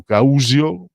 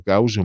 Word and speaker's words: Causio: Fu anche lui, diciamo, si trovò tra Franco Causio, perché mi risulta che la pronuncia corretta non sia Causio ma Causio, e poi Bruno Conti, quindi un pochino dovette cedere il passo anche lui, un grandissimo giocatore.